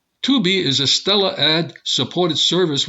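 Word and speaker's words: Tubi: select Smart TVs and this tubby or to be well it's spelled tu bi to be is a stellar ad-supported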